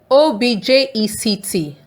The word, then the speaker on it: object: O-B-J-E-C-T. When the stress is on O-B, it's pronounced object. What is that object over there? An object is a thing.